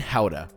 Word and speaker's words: Gouda: 3 cheeses, cheddar, raclette, and Gouda. It's pronounced Gouda, but yeah, Gouda.